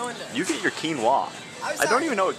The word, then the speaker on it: quinoa: Okay, see, quinoa, pronounced quinoa, was a staple of the ancient Incas who called the mother grain.